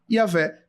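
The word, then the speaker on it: Yahweh: daqueles YouTubers sensacionalistas não a regra linguística determinada pela Universidade telaviv e pela Academia de Letras de Israel é yavé Então essa é a pronúncia correta tetragrama faz menção ao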